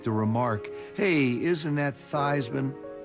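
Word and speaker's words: Theismann: we think by just simply changing the pronunciation of your last name from these men to Theisman to rhyme with Heisman we can get you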